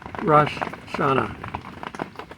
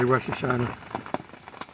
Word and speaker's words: Rosh Hashanah: extra rush in there rash shana is the proper way to pronounce it but in any case we say russia china it sounds more fluid and it's probably because